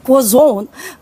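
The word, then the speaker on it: croissant: yun kaya let's say ako pag sinabi ko quazon syempre hindi ako French but that's the actual pronunciation of quazon yung May ganon pag ako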